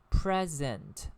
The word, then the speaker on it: present: Present means being in view, okay? But when present, present, is used as a verb, it should be pronounced as present.